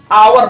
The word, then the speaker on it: hour: यहाँ पे लिखा हुआ देखिए HOUR, लेकिन इसको हम पढ़ते क्या है, आवर पढ़ते हैं, ना कि हावर पढ़ते हैं।